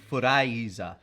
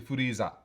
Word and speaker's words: Freeza: the It doesn't make the thing is it doesn't make sense for the Japanese to spell it with an I, does it? I mean, Because then it would be Furaiza. well, yeah, in the Japanese it's Furiza. So it's no, it's actually Furiza.